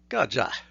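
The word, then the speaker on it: गज: behind both consonants so the word for elephant is gaja written with G and Ja and true to form the word is pronounced gaja so what can we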